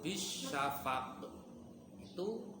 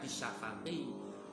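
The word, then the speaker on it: بالشفق: Contoh, fala uqsimu bisyafaq, itu sebenarnya membacanya bisyafaqi. Berhubung itu berhenti ataupun waqaf, membacanya bisyafaq, qafnya mantul.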